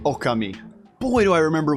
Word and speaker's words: Okami: time I called it Okami but to go with the Japanese pronunciation it would be oka me but why do I